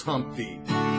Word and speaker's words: Humpty: My name is Humpty, pronounce it with the umpty.